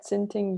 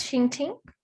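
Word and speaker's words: Xinting: and we have uh tinting you please tell me if i'm pronouncing your name wrong um okay how how should i pronounce it it's all right it's shinting yeah you're very close which is oh it's good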